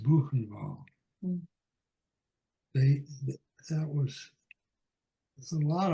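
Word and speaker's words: Buchenwald: the c h n w a l d pronounced banal they that was a lot of them were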